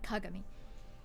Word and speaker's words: Kagami: Or as you should actually pronounce it, Kagami.